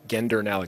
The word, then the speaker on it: Gendernalik: Gendernalik, hard G.